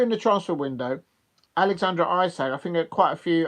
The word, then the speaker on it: Isak: what because we're in the transfer window Alexander ISAC I think quite a few Arsenal fans would like to um have Alexandra ISAC isach I should pronounce his properly name properly and I'm thinking